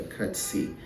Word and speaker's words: curtsy: seed she cuts it or she bought a cutsy okay these are the two ways you use